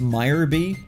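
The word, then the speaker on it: Miror B: Also, I'm pretty sure it's pronounced Meyer B, but I think Mirror B is a nicer name.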